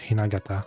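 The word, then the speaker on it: 雛形: it's Hinagata, that's how you pronounce it.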